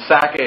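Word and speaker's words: Sacae: picture the word Isaac, and Sakae is S-A-C-A-E. It has the syllable of Sak, Isaac or Itzak right in it.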